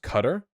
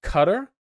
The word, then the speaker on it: Qatar: the World Cup is being hosted in it's pronounced cutter it's pronounced cutter that's stupid I'm calling it Qatar I don't even care so for those of